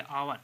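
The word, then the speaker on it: hour: होता है ठीक है इसको हैबर नहीं कहेंगे अवर ठीक है फिर लिखा हुआ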